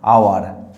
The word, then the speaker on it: hour: আবার এখানে যে শব্দটা কনসোনেন্ট দিয়ে শুরু হয়েছে এইস, এটা ভাওয়েল না, এটা কনসোনেন্ট, কিন্তু আমরা যখন উচ্চারণ করব তখন এইস এর কোনো উচ্চারণ হবে না, আওয়ার, আ।